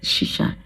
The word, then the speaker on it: shisha: I don't know how they pronounce that. It's shisha.